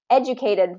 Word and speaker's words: educated: so let's just take educated for example um educated it's always going to be first syllable stress now if we change